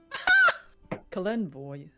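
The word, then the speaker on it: Kelemvor: Kalenvor, we say.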